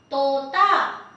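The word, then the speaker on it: तोता: Now I have ta with O ki matra, to, and another ta with A ki matra, ta. Tota, tota, and tota is a bird which means parrot. Tota, dental, soft, don't aspirate.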